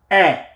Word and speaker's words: est: of the verb être, est, with the T, est, with the T, where the T is not pronounced, except when it comes into contact with a vowel sound, then it is pronounced, and then you do the liaison, the link.